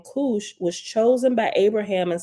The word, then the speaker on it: Kush: at the bottom says the Hebrew word Kush pronounced Kush refer k-o-o-s-hoosh okay I said